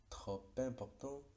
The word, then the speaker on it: trop important: Y la P se sigue pronunciando como P, trop important, beaucoup à faire. Nuevamente, veamos que trop no se pronunciaría esa P final, pero con la liaison aparece el sonido.